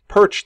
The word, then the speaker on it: Pyrcz: If you are ever uncomfortable pronouncing my name, just go ahead and just try to say Pyrcz like the fish or like a bird is perching, and you'll say it as well as I say it.